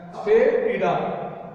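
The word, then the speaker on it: asafoetida: हींग भी कुछ लोग इसको हिंदी में कहते हैं, इसका प्रोनाउंसिएशन है अस्पेटिडा।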